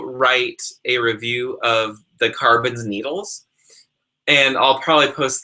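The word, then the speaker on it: Karbonz: I would highly recommend the carbons they're spelled with a k k a r b o NZ by knitter's Pride um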